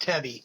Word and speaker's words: Tebbe: Well, first, my last name pronounced Tebbe, T-E-B-B-E, Tebbe.